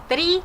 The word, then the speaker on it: три: Один, два, три, четыре, пять.